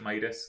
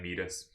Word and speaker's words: Midas: overall performer need us i probably should pronounce it midas like king midas but i'm used to saying meet us meet us at 100